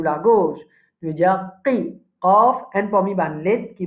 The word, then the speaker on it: ق: Qaf, un parmi les lettres qui va mourir.